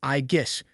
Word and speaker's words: Aegis: Aegis is supposedly the name of Zeus's shield, and the way you say it is Aegis, with a strong emphasis on the G.